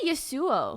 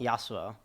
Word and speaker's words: Yassuo: why ASSA I say Yasuo Yasuo he also is how you pronounce it without the s what are you gonna say yes yes you OH Yasuo like the champion bow with two S's